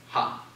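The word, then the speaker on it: ὁ: your masculine singular article pronounce h ha because of that rough breathing Mark yes did you no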